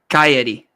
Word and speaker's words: Cagliari: Oh, Cagliari.